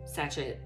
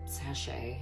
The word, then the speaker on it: sachet: Feel like maybe the little dream sachet that she made, or sachet, oh my god, I know that's how you say it, that she made last month has calendula in it, I think.